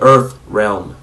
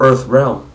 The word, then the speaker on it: Earthrealm: Mais malheureusement, quand un acteur français prononce Earth Realm, il ne dit pas Earth Realm. Ce serait trop difficile. Il dit Earthrealm. C'est totalement faux. C'est une erreur de prononciation.